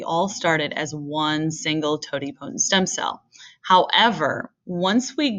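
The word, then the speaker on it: totipotent: talk about stem cell options at least so Tod potent is the first word there that's how you say it Tod potent stem cells can become anything that's needed in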